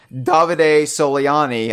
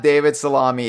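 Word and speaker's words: Davide Soliani: davide solely on e I said it right Mitchell I got it finally got it was David Sivan well it's not oh it's not it it's not as not David salami it's David a solely on e he tweeted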